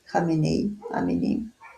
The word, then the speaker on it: Khamenei: où le chef iranien Amenei, je ne sais pas si en français ça se prononce comme ça, Amenei, est décédé. Khamenei.